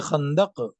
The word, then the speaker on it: Khandaq: So Nabi sallallahu alaihi wasallam was busy in the battle of trench, Jange Khandaq.